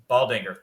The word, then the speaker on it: Baldinger: Baldinger. There we go. I did not want to pronounce the D for whatever reason there.